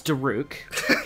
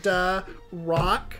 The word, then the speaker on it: Daruk: few things walk it's daruk yeah but like if you say it like duh rock yeah but that requires an o where the u is yeah but like it's